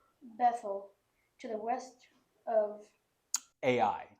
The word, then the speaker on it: Ai: to the west of AI just pronounced ai ai to the east